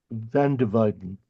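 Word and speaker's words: van der Weyden: so I think I I think the pronunciation is van dividen it's like the the W's pronounce as a v he's an amazingly good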